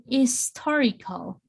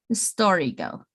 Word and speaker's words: historical: an, my pronunciation here, my H is muted, and historical. So this is like muted, this is with no sound, and it's going to jump to I, historical. Okay, so an historical.